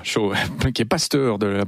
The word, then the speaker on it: Cho: le coréen David yongich Cho on prononce ch voilà chaud qui est pasteur de